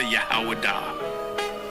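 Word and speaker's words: יהודה: When I say Judah, Yahwadah. That is the ancient pronunciation of the word.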